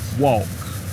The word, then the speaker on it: walk: and it says that the word walk and talk that the L is not pronounced okay what is wall